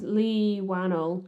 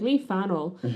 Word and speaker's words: Leigh Whannell: It's Lee Wano. Yeah. I keep his first his last name begins with a wh so I keep trying to pronounce it like it's terrii and being like Lee Fel.